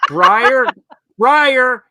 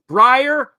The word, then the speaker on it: Breyer: Breyer, it rhymes. Breyer, retire.